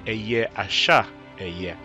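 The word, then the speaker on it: אהיה אשר אהיה: that is not human we are told that the hebrew form for i am that i am is a year a share a year some say a year asha a year the three sounding equivalent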